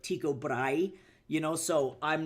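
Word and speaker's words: Tycho Brahe: But like famous astronomer Tao Bray, a lot of Americans pronounce his name Tao Bray instead of Tiko Bry, you know.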